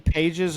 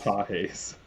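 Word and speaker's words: Pagés: Is his name Pages or How do you say it? Pajes? Pajes. Pajes. Okay. Not Pages.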